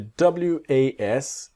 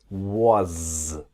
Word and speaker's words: was: And the W-A-S, it's like a Z, the was. Not was, but was.